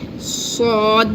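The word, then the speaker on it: ص: In the case of sod, this is the full mouth letter, and we just pronounce it by like here our tongue is full, and we touch our tongue here and say sod. This is the bold letter actually.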